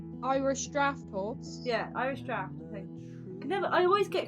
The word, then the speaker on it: draught: Yeah, Irish draft. I think. I always get confused because it's spelt like draught, but it's like pronounced draft.